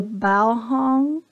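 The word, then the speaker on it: Baohong: and this is the bow hung bow hung is how you pronounce it um Academy watercolor Sketchbook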